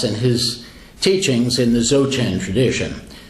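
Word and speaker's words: Dzogchen: his teachings in the xoJane tradition that's a word with a couple of silent letters I saw a spell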